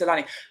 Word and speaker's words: Xolani: okay so I use Alani but then I won't um I will overemphasize the Z and so they will just spell it with a with a Z yeah what I found